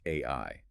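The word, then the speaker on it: 愛: He looks at the Japanese kanji for love, which is pronounced ai.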